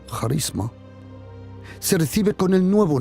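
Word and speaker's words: χάρισμα: Pero los dones, ese carisma como se pronuncia en griego, charisma, se recibe con el nuevo nacimiento.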